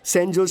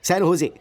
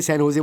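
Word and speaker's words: San Jose: Oh sorry sorry sorry sorry sorry, सैन होजे, SANJOSC। इसकी spelling यही है ना, लेकिन इसमें जे साइलेंट रहता है, इसलिए इसे सैन होजे बोलते हैं।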